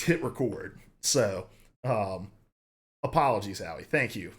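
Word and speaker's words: HitRecord: It's not hit record, it's hit record, like record a video.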